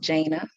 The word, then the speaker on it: Jana: It's pronounced Jana.